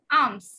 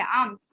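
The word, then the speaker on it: alms: এটা হচ্ছে এ এল এম এস, আর্মস। এর মধ্যে এল এর উচ্চারণটা আমরা করি না, অনেকে আলম বলে, আলম আসলে এটা কি হবে? আর্মস।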